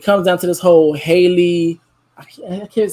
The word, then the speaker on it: Halle: that when it comes down to this whole Haley, I can't say, I think it's Haley, because it's one of them, like Haley, Holly. I always get them mixed up. Yeah, so it's Haley.